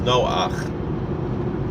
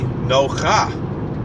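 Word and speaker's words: נֹחַ: look at it now generally in Hebrew the vowel that's underneath is pronounced after the consonant that it's on top of so following that general rule it would be no ha right you would read it no car we don't read it as no far we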